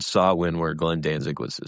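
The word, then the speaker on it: Samhain: Sawin. Sawin. I don't know what they were saying, but I know. Well, it's spelled Sam Hayne.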